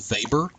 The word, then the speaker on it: Weber: I know his name is spelled Weber, but it is pronounced Weber, so you will hear me say that a good bit. So Weber emphasized let me try to say this word